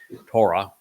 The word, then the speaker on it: Torah: Torah derives the O sound from the Hebrew Wa.